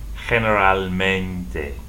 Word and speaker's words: generalmente: So for the word generally in Spanish, you pronounce this G, H, gen, generalmente.